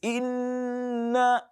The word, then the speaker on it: إنا: No, it is إنا. Take your time a bit so that the gunna sound can come out.